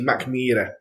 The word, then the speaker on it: Mackmyra: So most people say Mackmyra, and they pronounce it M-Y. Right, so Mac, everyone gets the Mac bit, not a problem. So yeah, so in the Swedish, it's actually Mackmyra.